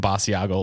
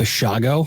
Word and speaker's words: Basiago: and Project Pegasus participant Andrew D Bago apparently pronouncing his name all wrong I was saying basiago last episode but apparently it's bago bago I would have said it wrong too